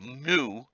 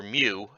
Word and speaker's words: Mu: Next week, we grapple with the last of the Lost Lands we're going to cover, the continent of Mu, or Mew, depending on which pronunciation guide I decide to go with, next week.